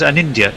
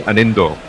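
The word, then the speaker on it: Anindya: Is the D soft? No, it's pronounced. In fact, it's actually pronounced Anindo. But well, Nari tells us. after we've had 2 it on podcasts, several interviews, and at least two goes as summarised where he lets us know we've been saying his name wrong.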